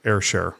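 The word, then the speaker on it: Ayrshare: And then from there, it uploaded to Airshare. And they spell it funny. A Y R.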